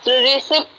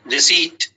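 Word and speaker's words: receipt: इसको क्या पढ़ते हैं रिप रिप नहीं है प साइलेंट द प्रशन इ रिसी रिसी ओके ओके सर जो कॉमर्स वाले स्टूडेंट होंगे वो आपको बताएंगे इसका प्रोनंसिएशन रिसी डी फोथ फिफ्थ क्या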